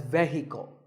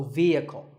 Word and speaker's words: vehicle: often pronounced wrongly as vehicle but the e is a long vowel and the H is silent so vehicle number eight is this